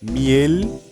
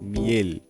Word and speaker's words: miel: O L muda quando ele tá no final das palavras, tá? Então a gente basicamente enrola a língua para trás dos dentes superiores, tá? Então é igual aqui na palavra miel e Miguel. Miguel, miel, tá?